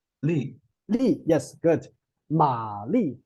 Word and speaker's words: 玛丽: Ma Li, right?